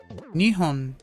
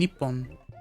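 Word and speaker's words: 日本: Though, it does make me wonder why Japan is pronounced both Nihon and Nepon.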